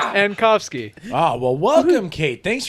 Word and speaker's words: Ankofski: This week on Crank Revolution, we have Kate Anakovsky here to You talk. added another A. Ankovsky.